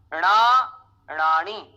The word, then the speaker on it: अणाणणाणी: अणाण, पहले तो अणाण, फिर ना और नाणी, इस तरह से हमें इसका उच्चारण करना है।